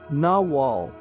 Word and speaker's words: nagual: rest of his life nagl pronounced naal was the name given